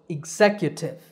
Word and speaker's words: executive: job in a company there are four syllables in this word zek yah tiff remember that the letter j represents a ye sound in phonetic symbols the stress is on the second syllable here zek so executive executive number